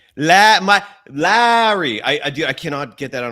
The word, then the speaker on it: Lauri: My pushback on the delay thing is one of the biggest reasons why you're going for another star player, whether it's Lauri. Lauri.